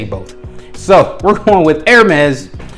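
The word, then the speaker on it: Hermès: I'm gonna say Hermes because that's what I hear the most, even though I've heard both and I've heard supposedly experts say both. So we're going with Hermes. The H is silent tonight.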